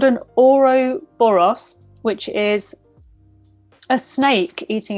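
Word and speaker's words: ouroboros: and it's kind of show you how you pronounce it it's called an oro boros which is a snake eating its own tail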